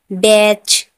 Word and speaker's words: batch: TCH में, अभी TCH में मैच, MATCH, मैच, मैच में टी साइलेंट है। बैच, BATCH, बैच।